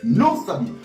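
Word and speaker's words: NOSABY: code promo qui est non saabi voilà comment non saabi s'écrit n o s A B y tout en majusc c'est le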